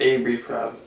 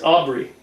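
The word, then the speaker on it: Aubrey: forget uh rv for how do you say rv rv plaza or is it abe it's aubry aubry aubry she plays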